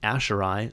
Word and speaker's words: Aiseirigh: Aiseirigh, although they say it is pronounced Aiseirigh, so I guess either of them could be interchangeable.